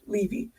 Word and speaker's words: Levy: We have Levy, yes, pronounced right, Levy, and we have Kim Johnson.